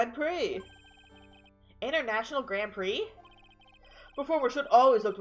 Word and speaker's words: Grand Prix: a picture from the grand prix with me I see I'm pronouncing Grand Prix right I'm not pronouncing Grand pricks get I absolutely would read it Grand Pricks well that's what